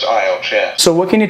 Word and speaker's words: IELTS: It's pronounced IELTS, right? Because that's something I didn't even know. Yeah, that's right. It's pronounced IELTS, yeah.